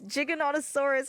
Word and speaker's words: Giganotosaurus: The Giganotosaurus is at 50. You know what really upset me? For the longest time I said Giganotosaurus. And it's not. It's Jig. It's like GIF. It's Giganotosaurus, and I was like,